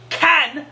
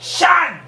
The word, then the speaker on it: Can: two as they and C N is can and not Chan it's a [ __